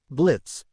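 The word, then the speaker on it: Blitzø: Blitz. Slightly nervous. Exactly. The O is silent.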